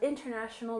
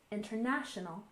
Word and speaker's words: international: and finally we have international relations we stress the third syllable International International and relations we stress